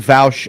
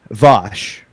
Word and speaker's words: Vaush: Okay, just out of curiosity, are you saying Vouch ironically? Wait, what? How's it supposed to be pronounced? Vosh.